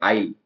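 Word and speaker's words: aisle: के साथ में है इसको बोलते हैं आइल जिसमें ए लिखा हुआ था लेकिन साउंड ए आई का आता है आइल गलियारा अब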